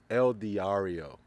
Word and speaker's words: El Diario: the camera's not rolling I say it right el diario the el diario I got it now alongside